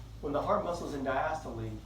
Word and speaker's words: diastole: I as my ears perk up so it's diastole and systole but some you know spell that way okay so when the heart muscles in diastole its relaxed low pressure it's filling with blood